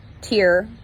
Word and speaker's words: Tyr: Tuesday is named after Tyr, T-I-W, but it's pronounced T-Y-R.